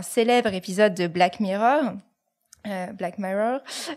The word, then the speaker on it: Black Mirror: épisode de Black Mirror Black Mirror si on prononce à l'anglaise qui est une série